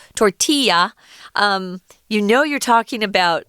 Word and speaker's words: tortilla: And when you see that word tortilla, and it's not pronounced tortilla, it's Mexican. It's a Spanish word, so it's tortilla.